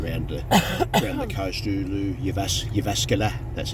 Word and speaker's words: Jyväskylä: Jyväskylä, that's how you pronounce that one.